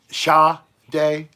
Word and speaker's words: Sade: I knew I wasn't saying it right. Shah Day, SHAH.